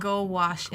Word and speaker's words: gouache: Yeah, gouache is how I've always.